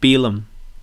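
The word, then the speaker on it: Finlay Bealham: Beelum.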